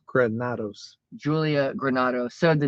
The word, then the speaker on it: Granados: It's Granados. Granados.